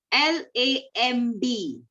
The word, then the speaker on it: lamb: L-A-M-B. Lamb. Correct? So here everywhere B is there. Okay? But we don't pronounce B here.